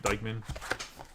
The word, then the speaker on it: Dyckman: that's how you say his name too right Dykeman yes he is also a museum collection you